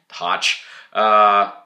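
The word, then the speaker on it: Hoch: film was done by winton c hutch or hawk i'll pronounce it hatch winton c hatch the cinematography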